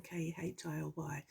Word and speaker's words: Keeley: So, and his dad was Irish with a surname like Keeley. That's how you pronounce my surname, Khilly.